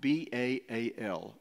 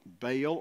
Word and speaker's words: Baal: a god whose name is spelled b-a-a-l bail or ba'al Baal Baal is a god of